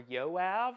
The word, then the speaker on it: Yoav: Is that Yove or Yoav or none of the above because other countries pronounce it differently? Hey, Tony. How you doing in Tennessee? Let's go. Second, Yoav. 2 syllables.